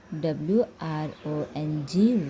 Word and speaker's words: wrong: Students, we have learned the some letters are silent in some words. Here we learn right, wrong, or wrist. There W is silent letter. Here we write W, but we can't pronounce the W word. Here we pronounce right. We start from R, right, wrong, and wrist.